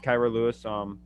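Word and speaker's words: Kira Lewis: I have Kyra Lewis. Is that how you say his name? Mm-hmm. Yep. Yeah, I have Kyra Lewis.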